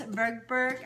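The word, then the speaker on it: Tverberg: Ann Spangler and Lois Bergberg.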